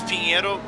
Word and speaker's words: Pinheiro: Give us the proper actually, it's Pinheiro, but some say Pinheirinho, which is the more Brazilian pronunciation. It's not Portuguese, it's more us Brazilians how we call the corner name.